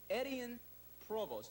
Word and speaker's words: Etienne Provost: Now, this city, Provo, was named after Etienne Provost. I think is the way you pronounce it.